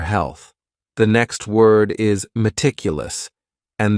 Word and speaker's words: meticulous: The next word is meticulous, and this word has 4 syllables, and the stress is on that second syllable. Meticulous, meticulous.